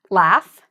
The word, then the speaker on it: laugh: And then if you have a word that ends in like a F sound, so I know this is GH, but it's pronounced like an F, laugh, then ED is going to be pronounced like a T.